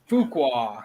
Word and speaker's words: Fuqua: Marcus Fuqua.